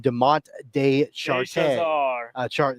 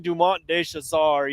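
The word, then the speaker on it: Dumont de Chassart: Uh, and then I believe it's uh Alexand Adrien Adrien Deont de Chart.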